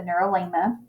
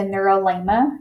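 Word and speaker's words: neurilemma: coverings is what is called the neurolingua that is spelled n-e-u-r-i-l-e-m-m-a the neuro-lima and basically the neurolemma is a covering that occurs only in the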